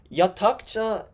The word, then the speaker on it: Yhatha: Hello, my name is Yhatha, and welcome to Yatakucha.